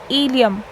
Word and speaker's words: ilium: वाला जो पार्ट है इसको बोलते हैं इलियम, ILIUM। अब मैं इसकी स्पेलिंग क्यों पढ़ रही हूँ, वो इसलिए ताकि आप लोग कंफ्यूज ना हो जाए, क्योंकि एक वर्ड और होता है इलियम। ये दोनों प्रोनाउंस तो सेम ही होते हैं, लेकिन इन दोनों का